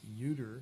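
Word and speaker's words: Ioder: Yoder, as it's pronounced, I-O-D-E-R is pronounced Yoder, which I learned just a few days ago, and another Jacob Yoder who came to Illinois in 1866.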